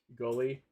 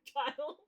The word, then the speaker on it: Guile: Or is it Guile? No, it's Guile. Okay, I just heard a bunch of people mispronounce Guile as Gully over the years when they were playing fighting games.